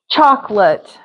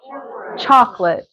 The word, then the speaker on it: chocolate: how to pronounce it chalk lot chocolate chocolate that's how I would say it you could put another